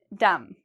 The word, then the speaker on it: dumb: Okay, do you hear a B sound in there? Dumb. No. So again, you'll notice there's an M and a B. We see the M, so we know no pronunciation of the B sound.